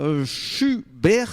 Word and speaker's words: Chuberre: Les essentiels du sport, une deuxième intervention avec Sarah Schubert, c'est bien comme ça qu'on prononce?